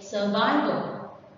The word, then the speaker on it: survival: Survival is a noun and the stress is on the second one. You have to say survival.